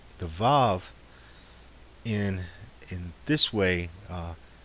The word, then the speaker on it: vav: that way like w a w and still pronounced as VAV um but for now we'll just think of